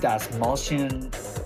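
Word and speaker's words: Dastmalchian: about much of these characters at all David Das malan that is how you say his last name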